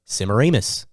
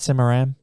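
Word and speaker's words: Semiramis: by the name of simaramus oh it's not simmeram where do we hear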